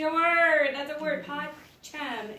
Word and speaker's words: pacem: Pacem is peace. But it's 2 syllables in Latin.